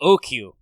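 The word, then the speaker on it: Ōoku: tokugawa kaiten make you oku yes that's right it involves all those words long u long o ooh i don't know why it's written with a double o and a long o but i guess it's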